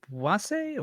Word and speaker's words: wase: Is it wase or is it was? Yeah. Wase? They don't believe in silent letters.